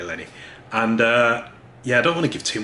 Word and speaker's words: Lenny: She plays a character called Lenny, or is it Lonnie? No, it's Lenny. Yeah, it's definitely Lenny.